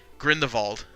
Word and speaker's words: Grindelwald: movie is like oh the bad guy was Grindelwald this this kind of you know grinned evolved its that's how you pronounce it yes my friend of all was